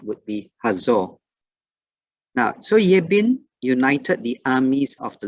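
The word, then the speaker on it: Jabin: And in the beginning of chapter 11, we read about Yebin or Yebin. Okay, the J is actually pronounced as a Y for Hebrew.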